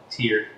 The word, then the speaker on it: Tier: But in German, I-E is pronounced E. Tier.